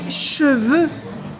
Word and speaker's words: cheveux: des chevaux j'en profite pour vous parler des cheveux et des chevaux voilà les cheveux mes cheveux j'ai les cheveux et c'est toujours au pluriel parce que nous avons plusieurs cheveux nous n'avons pas qu'un seul cheveu donc les